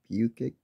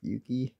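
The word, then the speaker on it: Bukich: Rudy Bukic, that's how you say that, or Bukey, quarterback for the Bears. Bukic. Not 100% sure on how to pronounce it, but anyways, that's Rudy.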